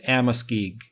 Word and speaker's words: Amoskeag: would know and it I pronounce it as Amoskeag AM OS k EA G they built a lot